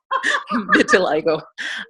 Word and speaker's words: vitiligo: sister has vitiligo and that is how you say it till I go and rosacea but you